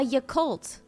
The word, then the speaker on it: Yakult: You don't know what a Yakult is? Oh no. What's that, Humblebee? Thank you for the 17 months. A Yakult. Am I saying it wrong? Y-A-K-U-L-T? I'm not saying it wrong.